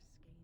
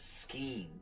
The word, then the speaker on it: skein: Now I wonder where I could get a skein of good wool yarn. Oh, that's how you say that word, a skein. I've always pronounced it scheme, but I always felt that was wrong.